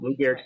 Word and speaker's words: Lou Gehrig: am I Yes, pronouncing ma'am. that correctly? Yep. If not, Lou Gehrig's disease.